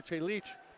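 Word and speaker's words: Čelik: representing the country and you go with that pronunciation like Marco Celik the goalie from Burlington because Marco che leach he's playing for Serbia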